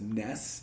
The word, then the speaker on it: SNES: regional dialect though because I hear a lot of people call it just Ness and then I also hear SNES and I don't like SNES and Ness but I think it's actually for for emulators and Realms more for me like a snazz ROM or something like that